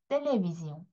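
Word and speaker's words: télévision: 텔레비지용 텔레비지용네 텔레비지용 이렇게 읽어 주시면 되는 거예요.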